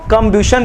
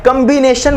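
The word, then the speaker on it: combustion: Burning होता है उसको कंब्यूशन रिएक्शन बोलते हैं। कंबिनेशन मत बोलना मेरे भाई, कंबिनेशन नहीं बोल रहा हूं, कंबक्शन बोल रहा हूं।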